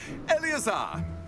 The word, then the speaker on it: Eleazar: Oh, Eleazar! George! Well, that's how you pronounce his name.